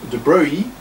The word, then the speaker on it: de Broglie: Was a French guy, an aristocrat, prince, in fact, de Broglie. I'm pronouncing it in the French way.